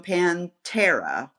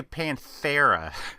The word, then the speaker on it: Pantera: And also joining the conversation is Andreas Klie from Pantera, which is how they pronounce it. I know, I always say Panthera. I know, it was Pantera.